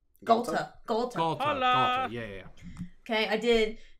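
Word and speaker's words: Ghalta: I posted a foil altar of, I say her name wrong, the big green dinosaur from Ixalan. Gahala? Galta.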